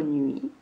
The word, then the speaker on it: nuit: Le mot nuit commence avec le son N. Il me faut ensuite faire le UI. S'écrit U, I. Et je n'oublie pas le T qui est muet à la fin. N, U, I, T. Nuit.